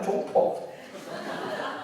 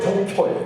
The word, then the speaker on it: 종포: 근데 70%의 사람은 제 이름을 발음을 잘못해요. 대체로 종표예요. 종표. 설마 종포겠나.